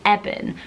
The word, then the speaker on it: Eben: Some people may pronounce it Eben, but I think the correct pronunciation is Eben because it's shortened form of Ebenezer.